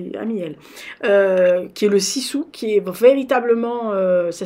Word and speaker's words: sisu: copine, elle est amie elle, qui est le Sisu, qui est véritablement, ça s'écrit S-I-S-U, je crois.